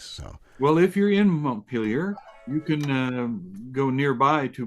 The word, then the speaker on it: Montpelier: And not to be correcting and stuff like that, that's a little rude, but it is pronounced around here, they don't pronounce it so fancy. It's pronounced Montpelier.